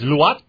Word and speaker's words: Luat: good okay so your last name is luat yes is that how you pronounce it Adrian getting all kind of troubles with the Filipino last name you got to understand her name is lat and she's about 4 and A2 feet tall